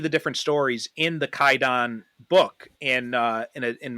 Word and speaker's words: Kwaidan: with so but in modern pronunciation it's actually pronounced kaidon without the W so if anyone's confused about